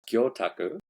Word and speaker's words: Gyotaku: Well, firstly, it's pronounced Gyotaku. Yeah. When you say gyu, well, gyo means fish. And then, but if you say it gyu means, it actually means beef.